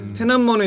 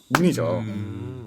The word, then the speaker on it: 톈안먼: 테난먼은 이제 우리에게 사실은 좀 익숙한 발음은 천안문이죠. 좀 천안문에 대해 혹시 아시는 게 있으신지?